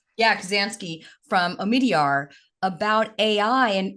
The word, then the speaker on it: Kubzansky: You recently co-authored an op-ed with Mike, and how do you pronounce Mike's last name? Kubzansky. Yeah, Kubzansky from Omidyar about AI.